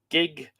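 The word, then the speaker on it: gigh: The sacred harlots of the temple were known as Nu Gig, N-U-G-I-G. It's interesting because if you lenit that, the word gig, what you get is G-I-G-H, which would be pronounced gi.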